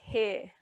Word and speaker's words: he: So the first one is he.